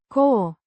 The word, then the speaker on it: cu: A preposition meaning with, pronounced Co. similar to the English word coo.